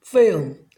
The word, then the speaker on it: film: 그래서 전체적인 발음이 필름이 아니고 피음, 빨리 하면 film, film 이렇게 들립니다.